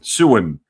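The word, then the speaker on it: Samhain: the what the the Festival of sewer suen suen that's how you say it you don't spell it like that it's an Irish word something to do with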